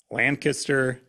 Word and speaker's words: Lancaster: Lancaster. Well, how do you say it? Run it all together. It's Lancaster.